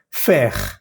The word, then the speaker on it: fer: Hay que pronunciar bien la E y la R. Por ejemplo, la palabra hierro, fer.